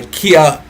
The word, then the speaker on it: Kia: I'm joined tonight um by Kia, neuroscientist out of Iran. Let us make him feel welcome in the chat. Kia, how are you?